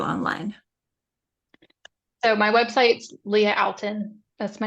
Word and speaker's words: Outten: so my website's Leah Alton that's my name um you spell o u- tteen it's not pronounced anything weird um people make it harder than it is I'm also on Instagram